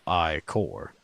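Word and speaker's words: ichor: with magical I Corps that's pronounced I Corps I appreciate the fact that they they clarify which pronunciation of ecore they use which they use i corps choose you all I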